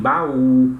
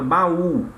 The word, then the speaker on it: baú: No caso da palavra baú, o U já mostra aqui com o acento, que ele necessariamente tem que ser pronunciado com mais intensidade.